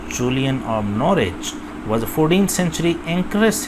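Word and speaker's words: Norwich: जगह का नाम है जूलियन नोवेच। ओके जी, ऐसे पढ़ लें, डब्ल्यू साइलेंट कर सकते हैं, आहिस्ता आहिस्ता प्रोनाउंसिएशन का भी lead. Julian of नॉरिच, right pronunciation, तो ये मोस्ट करेक्ट प्रोनाउंसिएशन नॉरिच।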